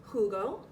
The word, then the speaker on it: jugo: Remember the J is pronounced like a H, so it's jugo.